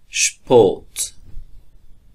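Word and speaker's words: Sport: و حروف ترکیبی اس و پ که با هم دیگر یک جای میشه، مخصوصا در آغاز جمله اش تلفظ میشه. اش اش اش. مثلا شپوت شپوت شپوت یعنی سپورت.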